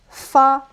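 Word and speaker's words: 发: in America but uh so in Chinese 8 is ba and it sound very similar to a word which pronounce fa which is the short version of getting super rich.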